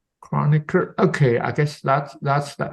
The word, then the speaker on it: Kronecker: So that's Chronicle. Can you how to pronounce this again? Kronecker. Kronecker.